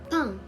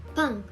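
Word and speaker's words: 빵: For example, pang, pang, which means bread. It has the same pronunciation whether it was the first consonant in the syllable or the second one.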